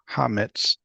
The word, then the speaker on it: hametz: Command to destroy all hametz from Hametz, accent on the last syllable.